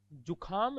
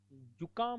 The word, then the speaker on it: जुकाम: जुखाम नहीं होता, जुकाम होता है, जुकाम है।